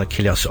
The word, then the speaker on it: Achilleos: like Connery, S-E-A-N, and A-C-H-I-L-L-E-O-S. Just think of the Achilles heel from Greek mythology, and then you'll think of Achilleos. It's just an O before the S. There we go, Achilleos on the Facebook page.